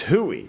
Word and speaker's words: hooey: It's hooey, not It's Huey. hooey, not Huey.